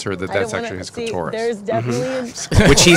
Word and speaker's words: clitoris: There they go over to look at it, and Domenico tries to convince her that that's actually his clitoris. Which he says clitortis.